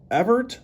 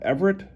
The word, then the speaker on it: Evert: name and to me shouldn't it be Chris Evert or Evert not Everett but that's how I